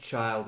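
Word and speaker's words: Childe: It's just child, it's just an edgy spelling. You don't need to pronounce the E at the end.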